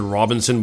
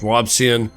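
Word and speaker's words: Robison: I want to pronounce it Robinson, but it's not. It's Robian.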